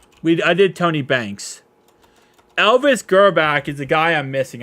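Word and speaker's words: Grbac: Elvis Gerback is the guy I'm missing.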